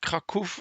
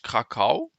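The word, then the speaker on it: Kraków: Hier steht Krakow. Get dat Krakow ausgesprochen. Op Deutsch Krakau.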